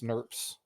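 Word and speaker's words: snRNP: You have these little things called SNRMs, pronounced SNRPs.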